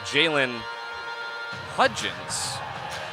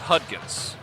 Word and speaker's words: Hudgens: Luis Rivera not Riviera and Jalen Hudgens not Hut gifts so Atlantic Cape and